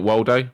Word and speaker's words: Waldo: it' be amazing do you know what where's Waldo is called in the UK and I K